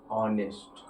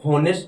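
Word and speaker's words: honest: तो इसको क्या हम होनेस्ट ना बोल के क्या बोलेंगे, ऑनेस्ट।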